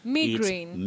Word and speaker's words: migraine: left that e out migraine migraine or migraine like when you're talking about a severe headache yeah all right migraine or migraine those are alternatives or alternate pronunciations for that word betty all right moses